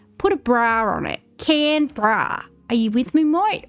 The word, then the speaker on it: Canberra: It's Cambra. At least look up how to pronounce it. It's Camra. All right, two syllables. Imagine you've got a can of beer and you put a bra on it.